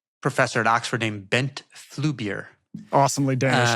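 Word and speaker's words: Flyvbjerg: Yeah, that's a phrase from a Danish professor at Oxford named Bent Flubier. Awesomely Danish name. Fantastic. Yeah, I know. Obviously had to make sure I could pronounce that one.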